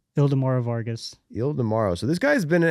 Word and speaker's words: Ildemaro: Ildemaro.